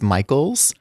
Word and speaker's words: Micheels: do theater work and it's Michael's spelled mich EE LS it was my great